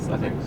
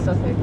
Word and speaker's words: Southwark: So how's that Southwark word supposed to be pronounced? Suffolk. Okay. The way you're supposed to say it. No, Suffolk, that's what it looks like.